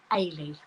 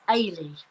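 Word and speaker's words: Eilidh: anybody who doesn't know you pronounce this name ailee okay it's scottish for helen helen she's coming in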